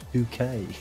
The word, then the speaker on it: Bucket: But she says it's pronounced bouquet.